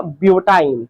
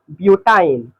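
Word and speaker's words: butyne: तो C4H6 का नाम हो जाएगा ब्यूटाइन। क्या नाम होगा, ब्यूटाइन। लास्ट का आइन शब्द उच्चारण करना है, आइन।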